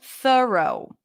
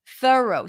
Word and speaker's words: thorough: stir sound th row or you can just pronounce it with a schah th row thorough thorough thorough or a cup sound because it's stressed thorough so through and either thorough so the r